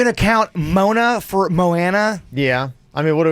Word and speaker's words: Moana: Mona and Moana. Moana.